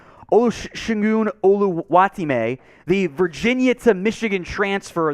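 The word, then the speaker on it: Oluwatimi: And just for James Yoder, Michigan's own Olu, which is the easier way to say his name, the full pronunciation, Olusegun Oluwatime, the Virginia to Michigan transfer, the center.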